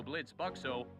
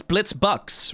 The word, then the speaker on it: Blitzø: Founded by sexual dynamo Blitzø, IMP is the #1... Hang on. Surely the O is silent. He put the thing through it, so it's Blitzbucks, right? It's not Blitz...